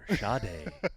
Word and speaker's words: Sade: It's spelled like Sade, like Sade. Yeah, But yeah. it's Sade.